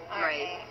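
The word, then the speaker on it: Raef: Where the school set was Harry Crabby, and that's spelled K-R-A-B-B-E. And he talked about Edgar Rafe, and that's R-A-E-F, Rafe.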